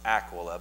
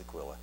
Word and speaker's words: Aquila: I think it's actually pronounced Aquila, but I've always pronounced it Aquila.